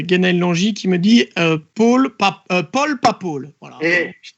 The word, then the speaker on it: Paul: Mais voilà, P-A-U-L ne se prononce pas de la même manière que P-O-L. Voilà. Il y a Paul ou Paul, c'est pas la même chose.